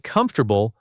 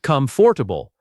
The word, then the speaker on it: comfortable: This word has four syllables when you write it, but native speakers only say three. It sounds like comfortable, not comfortable.